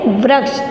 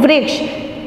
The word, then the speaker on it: वृक्ष: देखिए ये क्या है, वृक्ष, लेकिन हम इसको पढ़ते क्या है, वृक्ष, क्योंकि व के नीचे री की मात्रा है तो री का उच्चारण कैसे करेंगे, वृक्ष।